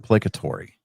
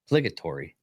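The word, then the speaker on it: placatory: It's pronounced platory. Plegatory.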